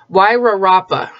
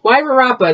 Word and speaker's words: Wairarapa: She told me how to pronounce it. Wairarapa. I did it! Wairarapa.